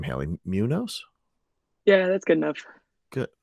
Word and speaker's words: Muñoz: ellie how would you pronounce your name haley munoz yeah that's good enough good well what do you pronounce it as it's munos technically because the enemies well yeah but like